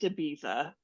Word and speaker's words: Ibiza: And John goes, it's pronounced Ibiza.